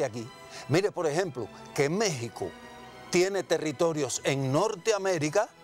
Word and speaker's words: México: la palabra por tanto méxico se pronuncia con jp no se escribe con x porque esa era la forma de hablar de los aztecas bueno si usted quiere